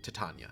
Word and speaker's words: Titania: our king and ruler, Titania. Is it Titania or Titania? How's that pronounced? First one, Tatana.